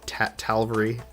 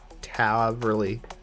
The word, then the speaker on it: Taverly: I know there isn't an L between the A and the V. I don't know why I've always called it Talvery. Taverly.